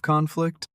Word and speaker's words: conflict: Is a war a type of conflict? Yes, it is. War is a very large and violent conflict between nations. Let's practice pronouncing that. Say conflict, but put the stress on the first part.